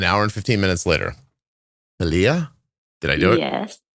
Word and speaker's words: Thalia: Thalia? Did I do it? Yes. Did I do it? Thalia.